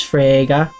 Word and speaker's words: Frege: Court is now in session for the trial of Beatrice Frege, which rhymes with Sega.